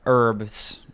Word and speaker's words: herbs: a spelling it's yeah herbs h-e-r silence a silent h silent h I'm going to talk